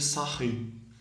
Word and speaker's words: Sarrus: da regra de sarin a gente escreve em regra de sarrus do escrever aqui é e como ele era francês a gente pronuncia corretamente regra de sarrus então como é que